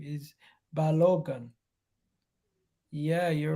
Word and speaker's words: Balogun: His name is Balogun. Yeah, you're right. You're right. I keep pronouncing an A before the G. You're right. I keep pronouncing an A before the G. It's Balogun, not Balogun.